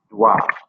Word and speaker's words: doit: In the case of devoir, doit, D-O-I. Or you could write it D-W-A phonetically, however you so choose.